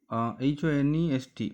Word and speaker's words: honest: Here honest, honest, we pronounce it honest, not honest. The h sound is silent here, so we place an কোথায় বসাই?